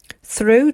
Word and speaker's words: through: Through, GH is silent, so the O becomes the final vowel.